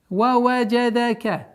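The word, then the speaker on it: ووجدك: Ваваджадака. Ваваджадака. Мягкое, без принуждения, спокойное чтение. Ваваджадака. Все мягкие звуки.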